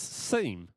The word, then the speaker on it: seam: Yeah, Americans can't pronounce seam. They pronounce it SIM. So I don't know what happened to the E in there.